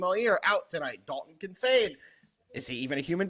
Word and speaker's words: Kincaid: Dalton Kincaid.